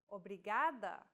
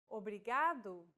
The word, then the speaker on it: obrigado: here in lesson two don't pronounce it like an English R don't roll your tongue listen to how Anna is pronouncing this sound the think of the quick tapping motion your tongue makes as it strikes the top gum Ridge in words like ladder or butter altogether it's a okay